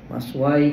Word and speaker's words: مثواي: Macam mana bacanya? Cuba tak? Muka surat 238. Maswa ke maswai ke?